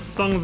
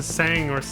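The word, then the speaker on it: Tseng: They realized nobody knew how to pronounce Sung's name before there was voice acting. In the original game, everybody probably just called him to Sang or something, like I did as a kid. I had no idea it was Sung.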